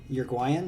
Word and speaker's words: Uruguayan: gonna say that uruguayan uruguayan is how you say it uruguayan band from uruguay